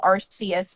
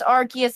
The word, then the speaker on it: Arceus: between the clash of arcsius and giratina as well if you're looking at like chaos i know it's arceus officially but it's going to bother